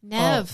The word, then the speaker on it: Neve: Nev. Oh, Nev as in Bev, right?